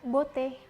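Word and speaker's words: beauté: membahas tentang konsonan pertama ada kata boteh b dalam bahasa Perancis ini kurang lebih sama kayak di Bird dalam bahasa Indonesia ini bacanya bote ya Bukan button1 ini mirip banget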